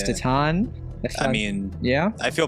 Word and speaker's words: Titane: remedial class for sure we've been calling it Titan t Titan it's been ridiculous but it's tatan I mean yeah I